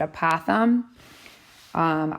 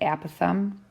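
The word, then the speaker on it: apothem: people sometimes pronounce it a path um I pronounce it a path um like an app that you would have on your iPad oh thumb so this right here is your app of them okay so next vocabulary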